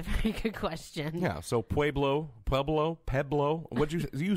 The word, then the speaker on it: Pueblo: Pueblo, Colorado. Okay, I just wanted to hear you say it again. Why? Because you're mispronouncing it. It's Pueblo. It's Pueblo.